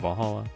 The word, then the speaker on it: VA-11 Hall-A: a little bit funny it's hard to pronounce good thing it's actually called Valhalla funny numbers are just